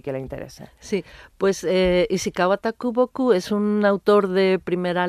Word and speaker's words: Ishikawa Takuboku: presentará sus traducciones de un escritor japonés de Ishiwaka Takuboku. ¿Lo he Ajá. dicho bien? Ishikawa Takuboku.